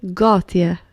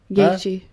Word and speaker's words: Gaethje: Justin Gauthier. Gaethje.